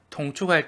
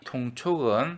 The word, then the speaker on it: 통촉: 통축할 때는 여기 동이 아니고 통으로 발음합니다. 통촉은 위사람이 아래 사람의 사정이나 형편을 살피는 것을 말합니다.